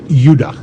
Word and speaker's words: Judah: The 2 southern tribes were called Benjamin and Judah. More properly pronounced Judah, because we didn't get the harder sound to the J until about 200 years ago.